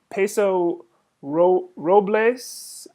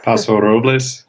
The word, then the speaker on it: Paso Robles: So this is from Amy from Paso Robles, California. Maybe that's how that's pronounced. I'm not sure. Paso Robles. Paso Robles, Yes.